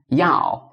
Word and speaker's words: 要: So for this, yao, remember the trick. So we need to make y-o like in this way.